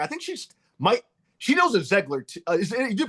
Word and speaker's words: Zeigler: I think she knows a Zeigler. You do pronounce it Zeigler, right? Zeigler. Zeigler. Do you pronounce it Zeigler? Well, we always said Ziegler, like a, but it's wrong.